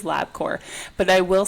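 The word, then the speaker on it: Labcorp: Literally everybody like agreed labcore but and and there was one comment that was like if the P is silent why is it there?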